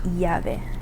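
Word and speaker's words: llave: Sometimes um you'll hear it like y, sometimes you'll hear it like j. Um, kind of depends on the pronunciation of like the the country that the person's from. Um, so the example for this one is going to be the Spanish word for key, which would be yave.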